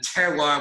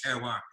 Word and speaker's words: terroir: That's what we call terroir. It's a French term. It's like terrier only, spelled with the O and the I are backwards.